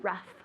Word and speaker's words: rough: So I could say, ooh, the ocean is rough today. Or Okay. the wall, when you run your hand on the wall, it's rough as well. Pronunciation, rough. Rough. Good, so it sounds like an F.